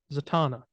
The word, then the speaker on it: Zatanna: spelled it I think you spelled it right but you said Zatanna yeah Savannah it's a Tana that's how you say it that is it's a Tana yeah it's not it's a Tana whatever anyways the potato is